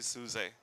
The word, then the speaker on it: SUSE: Dominic, um, I'm working for a company called Suse, mispronounced many times I heard, but that is supposed to be Suse.